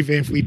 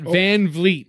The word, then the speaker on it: VanVleet: If they say Van Fleet, it's VV. Think about it like that. Van Vliet. No you way. want to say Fleet, you know?